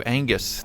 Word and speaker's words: Angus: This comes from Tomato Angus. The G is silent, as he plays Fallout New Vegas.